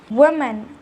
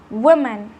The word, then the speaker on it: woman: form is written with the letter O but pronounced with the letter you woman woman however the plural form is also written with